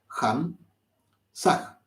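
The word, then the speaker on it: Ham Sah: a H ham sag la H se pronuncia como una J ham saag Lo importante para esto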